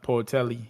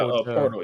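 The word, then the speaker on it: Pöltl: And they got Portelli. How do you say bro name? Oh yeah, Portal. Jakob Pro. He is their starting center. I forgot. Yeah, my fault. I said Portelli, but you know what I'm talking about.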